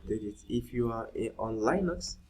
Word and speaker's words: Linux: If you are on Linux or Linux, as some people pronounce it, you have sudo npm install npm, all right, and you put G.